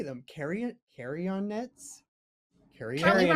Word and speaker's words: Carrionettes: Carrionnettes? Probably Carrionnettes? rhymes with Carrionettes. marionettes, right? Like Carrionnettes.